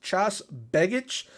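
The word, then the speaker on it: Tjaš Begić: I believe his name is pronounced Chas Begic.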